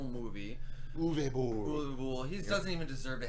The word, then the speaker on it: Uwe Boll: game, and obviously that Christian Slater movie, horrible Yule Bowl movie. Uwe Boll. He doesn't even deserve to have his name pronounced correctly.